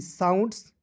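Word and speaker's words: sounds: ह लिख देंगे वह एस ओ यू एन डी साउंड्स फन देखिए कैसे साउंड्स को पढ़ते हैं एस का स हो जाएगा ना जी ओ यू एन डी है तो इसका उच्चारण आउंड के रूप में करेंगे ठीक है और देखिए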